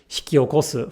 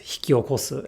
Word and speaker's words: hikiokosu: Through many years of listening osmosis, so to speak, they come to realize unconsciously that hikiokosu, for example, is pronounced hikiokosu and not hiki okosu.